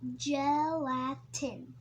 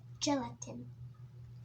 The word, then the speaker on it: gelatin: how you pronounce it gelatin gelatin the G sounds like Jake gelatin it gives gummy bears